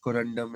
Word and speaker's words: corundum: you just say one more time with the pronunciation corundum yeah I'll give it corundum is correct this is corundum the elements are